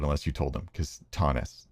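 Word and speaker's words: Thoennes: And I know how to pronounce name even though nobody else would unless you told them cuz Tonnus t h o e n n Yeah, that's confusing.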